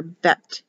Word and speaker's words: bet: B, if it has a dot, for bet, B. This will be without a dot, is written as a B for the pronunciation, but sounds, they will sound it out and pronounce it with a V. It'll be written with a B, like bet, but sounds like a V when they pronounce the word.